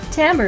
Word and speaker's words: timbre: Timbre is an interesting word. It looks like the word timber, but it's pronounced timbre.